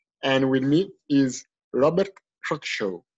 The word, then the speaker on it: Crawshaw: And with me is Robert Crawshaw, right? Did I pronounce it correctly? Yeah, it's Crawshaw. It's pretty close.